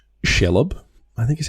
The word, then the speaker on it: Shelob: This one I just thought was cool because it's Shelob, I think is how you pronounce it. Shelob? Yeah, I've always said Shelob.